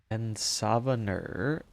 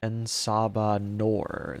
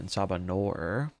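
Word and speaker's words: En Sabah Nur: Ensabaner. It's pronounced Ensabanor. Ensabanor.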